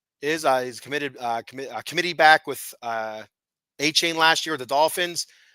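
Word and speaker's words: Achane: Whenever I see his name, like you hear A-Chain's name, it's like, okay, that makes sense. Whenever you see his name, you don't want to say it like that. You want to say Ake or Ake-Gain or something like that. The CH, ACH kills me.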